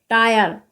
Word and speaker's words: tyre: तो आप देख सकते हैं टी के बाद में यहाँ पर बाई दे रखा है, TYRE, यहाँ पर टी के बाद में बाई दे रखा है तो यहाँ पर बाई का उच्चारण आय होगा। तो TYRE को हम क्या पढ़ेंगे, टायर।